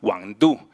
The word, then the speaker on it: Wang Du: Hoy vamos a hablar de este artista francés que nació en China, que se llama Wang Du, se pronuncia así como Mambrú, y su obra en la exposición Y aquí la luz es la que está en el lobby de entrada.